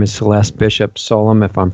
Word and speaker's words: Solum: Her name is Celeste Bishop Solum, if I'm pronouncing that correctly.